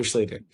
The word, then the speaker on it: Schlueter: but there's now an easy way to remember my name. It rhymes with Peter. Could have been a Peter Schlueter.